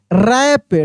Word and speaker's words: wrap: देखिए यहाँ पे रॉन्ग, रिस्ट, रैप, WR है तो W साइलेंट है, ठीक ना, र का उच्चारण हो रहा है, रैप, रेक।